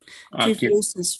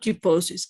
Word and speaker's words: kyphosis: Kyphosis, for example, not kyphosis, kyphosis.